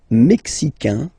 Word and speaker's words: mexicain: Le Mexique, mexicain, un here, like we had in américain, A-I-N, mexicain, and then mexicaine, mexicaine.